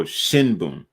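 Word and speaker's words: 新聞: And basically, if the n or sound comes before a B, then it's always going to be pronounced as M, like an M. So shinbun.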